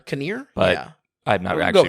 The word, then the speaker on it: Kinnear: to see Rory uh Kenner uh that is how you pronounce it right Kenner I always thought it was near Kinnear oh yeah I've never